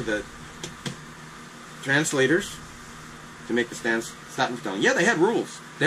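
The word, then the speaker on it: Statenvertaling: The Staten Vertelling Dutch, which is the stage translation, is pronounced Staten Vertelling.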